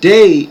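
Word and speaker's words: Dey: And that Day is spelled D-E-Y.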